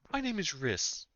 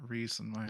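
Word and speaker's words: Rhys: to know your name wrist r h y s I was pronouncing it reasons uh my brain of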